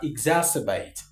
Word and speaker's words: exacerbate: Number five, we have exacerbate. Exacerbate. Exacerbate. Ex. Not exacerbate. Not ex not exacerbate. This word is exacerbate.